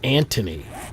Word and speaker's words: Anthony: Well, there are some people in England called Anthony, but for some reason they refuse to pronounce the th. So, it's Anthony.